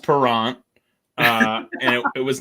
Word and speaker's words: Parent: flyer's goalie bernie parent it's pronounced perrant uh and it was